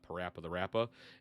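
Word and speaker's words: PaRappa the Rapper: You got Parappa the Rappa.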